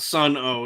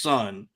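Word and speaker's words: Sunn O))): know okay so yes it's not son o it's just son but it's spelled Sun s n n o parenthesis parentheses parenthesis so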